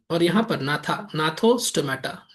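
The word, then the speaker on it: Gnathostomata: इसको बोलते हैं एनाथा। ठीक है? अनाथा अनाथा या अनाथा अनाथा या एनाथा जी साइलेंट है ठीक है और ये क्या हो गया यहां भी जी साइलेंट है नाथोस्टोमेटा ठीक है अच्छा यहां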